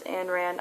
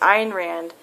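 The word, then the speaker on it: Ayn Rand: rand my dad loves anne rand i know i'm saying her name wrong it's iron rand a-y-n-r-a-n-d but i just i like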